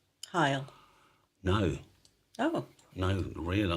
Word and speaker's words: Heil: How would you pronounce Bob Heil? Is it Heel or Heil? Heil. Heel or Heil, all right? Heel or Heil. Because the real answer, as you're typing that, is Heil.